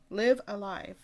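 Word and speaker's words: Live A Live: Next one, and the last one for Noteworthy Reviews, is Live Alive. I've told you how to pronounce this Live like 5 Alive?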